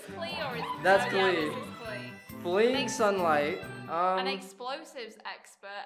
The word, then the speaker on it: Klee: That's Klee.